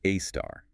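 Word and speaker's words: A*: A search pronounced AAR.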